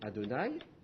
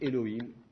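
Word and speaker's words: יהוה: du temps vous allez le tétragramme vous allez le prononcer adonaï c'est à dire seigneur sauf si vous avez justement écrit seigneur et puis ensuite le programme voilà c'est à dire au seigneur seigneur bon ça marche pas donc à ce moment là là vous allez le prononcer eloïne seigneur eloïne jeudi elohim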